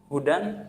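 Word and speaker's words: هدى: Hudan membacanya dengan pendek. Sedangkan ketika kita membacanya dzalikal kitabu la raiba fihi hudal, nah, karena kita salah membaca dengan panjang, maka maknanya adalah Yahudi, yaitu bukan lagi petunjuk tapi Yahudi bagi orang bertakwa.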